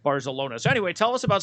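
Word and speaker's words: Barzalona: uh who won the dubai world cup barcelona barcelona yes that's that's how you say it bars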